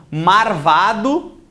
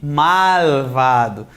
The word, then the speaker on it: malvado: Cacoépia, erro de pronúncia. Então, marvado em vez de malvado.